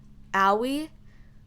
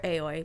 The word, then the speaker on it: Aoi: next up is okay i have been saying her name wrong my entire playthrough but i called her aoi i think it's owie i called her aoy my bad okay yes yes yes